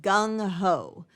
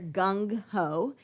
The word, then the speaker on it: gung-ho: the next one is gung ho all right so that's two words there gung ho and you don't really pronounce the g at the end it's there's a little